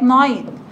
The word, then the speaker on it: night: at night في الليل. وقلنا الجي والاتش دول يا حبايبي سايلنت، النقط اللي انا حطاها تحت الحرفين دول سايلنت. يعني ايه ميس سايلنت؟ يعني ها ايوه بتتكتب ما تتنطقش، بتتكتب ما تتنطقش.